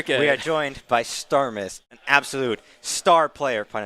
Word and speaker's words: Starmies: First of all, it's pronounced Starmus, not Starmies.